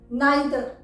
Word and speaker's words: neither: इसी तरह से NEITHER, नाइदर यूके प्रोनाउंसिएशन है, जबकि नीदर इस वर्ड का यूएस प्रोनाउंसिएशन है।